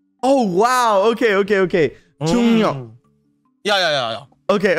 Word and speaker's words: 중력: 중력. Sorry? 중력. 중력. 중력 이게 중력. 영어로 하면은 정력으로 불리던데 아니고 중력 중력 야야 중력 중력